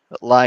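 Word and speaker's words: Lai: can't remember his name lie is spelled l AI so if you look up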